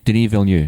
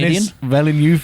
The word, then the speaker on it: Denis Villeneuve: Denis Villeneuve. Is that how you pronounce it? Yeah. Oh, I've been calling French him Dennis Villeneuve for fucking the entire time I've seen that name.